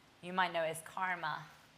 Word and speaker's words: karma: You might know it as karma. It's pronounced karma, and very precise.